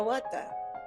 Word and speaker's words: Huerta: Huerta. Yeah. Huerta. The H Huerta. is silent in Spanish, but you got everything else.